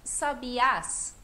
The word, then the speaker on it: sabiás: Palmeiras onde cantam os Sabiás Por que que só sabias ficou forte a última sílaba S os outros todos